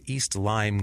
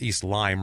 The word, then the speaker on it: East Lyme: to be scared of a town called East lime right away because that's the disease spelled the same way too and it's in that